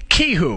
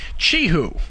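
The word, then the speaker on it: Qihoo: was always pronouncing it Ki like with a K Ki and then somebody corrected me and said well it's actually Chi who like CH you know that CH sound so um but I've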